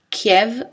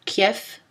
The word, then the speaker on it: Kiev: On le trouve seul dans les mots d'origine étrangère, prononcés V ou F, Kiev ou Kiev, Romanov ou Romanov.